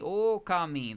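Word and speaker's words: Ōkami: and the the title screen is like okami okami. Like that wasn't for dramatic effect. That's how you pronounce it.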